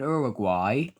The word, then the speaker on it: Uruguay: The countries are pronounced Paraguay and Uruguay. It's pronounced Suriname.